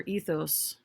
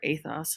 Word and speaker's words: ethos: And what about logos, pathos, or ethos? Or athos, however you want to pronounce that. Both are correct.